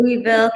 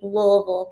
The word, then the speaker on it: Louisville: kentucky enjoying it or shall i say it correctly louisville kentucky louisville when i worked for the va i had when i became a rating specialist i had a uh instructor that was from louisville and he made sure every time everything you know it's spelled lewisville so i don't know why they say louisville i don't know we're in